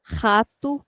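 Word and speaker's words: rato: If the word is beginning with the letter R itself, then R will never be pronounced as R. It is always H.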